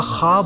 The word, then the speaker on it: خواب: کو جنت میں دیکھا۔ بھائی لفظ خواب نہیں ہوتا، خواب ہوتا ہے، لکھنے میں خواب ہے، تلفظ خواب ہے، لکھنے میں خواہش ہے